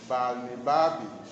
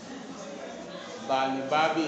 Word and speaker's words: Balnibarbi: Part 3 is entitled A Voyage to Laputa, Balnibarbi, Lugna, Klubdubdrib, and Japan. Part 3 is entitled A Voyage to Laputa, Balnibarbi, Lugna, Klubdubdrib, and Japan. Balnibarbi is spelled B-A-L-N-I-B-A-R-B-I.